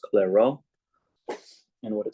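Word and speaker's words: Clairaut: mixed partials this guy French his name is pronounced clero and what it says is if both the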